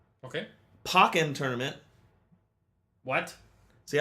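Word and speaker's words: Pokkén: pocken tournament what see I always thought it was pronounced poken tournament yeah that's what I thought too and then I was watching uh a stream of people playing it and they pronounced it pocken tournament interesting I'm like what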